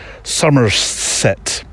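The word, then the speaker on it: Somerset: Nature Reserve in sumet you have to say it like that sumerset testing my new 150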